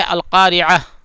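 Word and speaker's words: القارعة: تو پہلی آیت ہے القارعہ. تو یہ عام ہے، اس میں قاف کا دھیان رکھنا، قاف ٹھیک سے نکلنا چاہیے، اور عین یہ دونوں جو ہے تلفظ تھوڑا ہارڈ ہوتا ہے.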